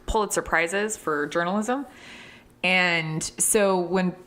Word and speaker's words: Pulitzer: He's won 2 Pulitzer Prizes for journalism. And so when Bob Woodward... I believe it's pronounced Pulitzer Prize. Oh. Which, when I was younger, I thought it was Pulitzer Surprise.